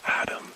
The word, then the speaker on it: ADM: he explained to me ADM and REM pronounced Adam and Remington considering your placement in